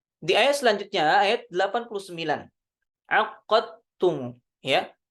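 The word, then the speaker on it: عقدتم: Aqadtum, ya. Aqadtum aqadtumu. Takhfiful qaf. Ya. Kalau dihafskan ditasydidkan huruf qafnya. Jadi kalau di riwayah Syu'bah ditakhfifkan, maka syiddahnya hilang. Ya. Aqadtumu.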